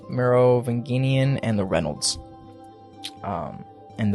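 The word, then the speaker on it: Merovingian: russells van dyne um the morovingian i'm so sorry i've pronounced his last two wrong merovinginian and the reynolds um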